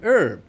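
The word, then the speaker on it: herb: exceptions to our rules for example our and urb when we do not hear the h make sure you put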